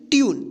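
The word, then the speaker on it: tune: ट्यून। इसको टू नहीं पढ़ेंगे। क्या पढ़ेंगे? ट्यून। देखिए यहां पर यू का उच्चारण हुआ।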